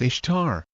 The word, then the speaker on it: Ishtar: Ishtar is not pronounced Easter in English. It is pronounced Ishtar. Actually, in modern English we pronounce it the way it looks.